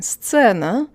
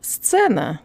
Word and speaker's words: сцена: So if we think about the phrase best seen, it's actually a lot easier to say than сцена, and here's why.